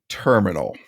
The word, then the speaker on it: TRMNL: So I bought a terminal, and that is spelled TRMNL, no vowels.